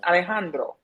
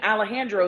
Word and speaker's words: Alejandro: His name is pronounced Alejandro. So when you say it that way, that's his name. Alejandro is not his name.